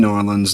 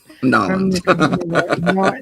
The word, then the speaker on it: New Orleans: Force from New Orleans that's how you say it norleans New Orleans New Orleans yeah New Orleans or norleans or however it is you want to there's variations on it it don't say New